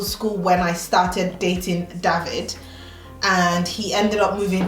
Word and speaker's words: David: Same with David. David is English, but if you were going to pronounce it in German, it would be David, which is my husband's name.